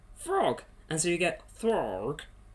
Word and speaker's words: Throg: And so you get Throg. Not Thor, not frog, it's Throg. And you have to say it like that as well.